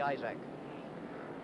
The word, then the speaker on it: Isaac: moment, that of Bobby Isaac. I-S-A-A-C, and down here, they pronounce it Isaac most of the time.